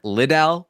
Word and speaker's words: Liddell: It's apparently Chuck Liddell. I was going to tell you. Yes. Yeah, you sound like a damn idiot when you say it wrong.